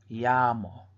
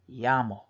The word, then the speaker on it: llamo: so we're gonna pronounce that first half is yeah with the two L's in the a and the second half of the word we pronounced mo mo so we kind of just say it as we see it so the second word again is yah mo llamo llamo so we're gonna